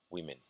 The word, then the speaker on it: women: Also, the word we mean. Women. Silver pin e, women.